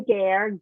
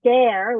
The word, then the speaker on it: Gaer: My name is Gare, pronounced Gare, Gare like hair, Gare.